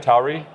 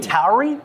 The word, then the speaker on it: Tauri: Is that how you say it? Tauri? How do you call it? You gotta stop using these words, bro. No, Tauri is a real thing. Tauri? Yes. Tauri. Has anybody heard that word?